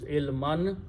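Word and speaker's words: علما: And it is ilmun, but it's coming as a maf'ul, so it becomes ilman. When we stop, we pronounce ilma.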